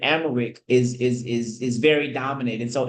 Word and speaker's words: Amharic: Most people of their first language, which is, I think you pronounce it Amharic, is very dominant, and so English wasn't as common.